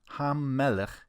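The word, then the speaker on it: הַמֶּלֶךְ: And the double M, hamelech, helps us to know where to divide the syllables when we pronounce it.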